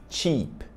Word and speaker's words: cheap: liga só no mistério essa palavra se escreve com EA Beleza então você vai ler com o som de i então cheap cheap cheap cheap significa